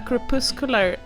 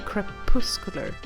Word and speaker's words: crepuscular: I should stop trying to pronounce weird English words. What is this? A crepuscular animal is one that is active primarily during the twilight period. Okay, crepuscular.